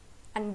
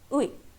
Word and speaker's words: 의: Okay, तो इसका pronunciation यहाँ पे नॉर्मल प्रोनाउंसिएशन है, उई. And here it is used as ए particle, तो यहाँ इसका प्रोनाउंसिएशन क्या है? ए.